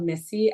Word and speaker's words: Myssi: so it's just my name my first name is spelled Missy M Y SSI last name r o b